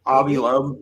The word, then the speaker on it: Avi Loeb: How do you pronounce his name? Avi Loeb. Avi Loeb.